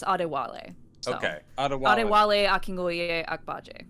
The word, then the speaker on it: Adewale: Yeah, his first name is pronounced Adewale.